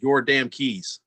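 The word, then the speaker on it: Yordankys: from mr garcia on the chat it is pronounced your damn keys your damn games all right your damn keys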